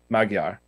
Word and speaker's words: Magyar: 1500s um a.d by the magyar which is the hungarian term for hungarian it's pronounced with a d and i know that much because i've got uh my hungarian speaking brethren well technically it's not a d but it's a close approximation for us english speakers as close